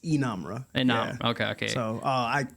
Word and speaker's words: Inamra: Inamra, am I right? Yeah, in saying so it's Inamra. Inamra, Yeah. Okay. So I have the pronunciation in my bio on Instagram, I believe.